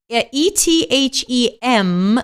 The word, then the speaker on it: Ethem: Oh my God, I can't pronounce that. Ethem like Mary.